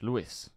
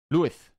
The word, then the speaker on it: Luis: You have to pronounce it a little more Spanish. Luis. Luis.